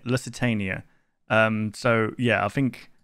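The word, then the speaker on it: Lusitania: I mistake this one for the L Lucitania I think that's how you say it Lucitania um so yeah I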